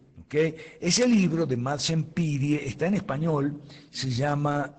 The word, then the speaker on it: Pirie: Madsen Pirie se escribe así como suena, Pirie.